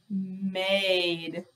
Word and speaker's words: made: this mad if we add an e to it m a d m a d add the e it is made made sorry this is